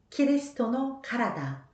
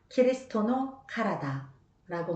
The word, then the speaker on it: キリストのからだ: 그리스도는 여러분들 많이 들으셔서 아실 것 같은데요. 키리스토라고 하는데요. 몸은 카라다라고 합니다. 그래서 너희는 그리스도의 몸이요. 키리스토노 카라다. 키리스토노 카라다라고 말합니다.